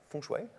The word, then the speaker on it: feng shui: feng shui right did i say it right feng shui good nice so the secret to this is